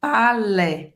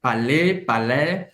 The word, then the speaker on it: Palais: Em Paris, por exemplo, o pessoal fala E, aberto. Palais. Palais, depende da região.